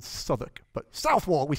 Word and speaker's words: Southwark: stabbed and they're all like hey where is south walk you what where is south walk and of course we with the americans it's called southwark but south wall we spell it south walk and then they